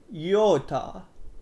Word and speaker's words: Iota: You don't want to oda one, but instead, yoda, yota, yota, yota. Sounds like Yoda, which makes it much cooler. Next one will be super easy.